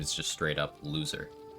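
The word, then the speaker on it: Lae'zel: quite some time something more than the it's pronounced Loser yeah loser from aen to Gail where does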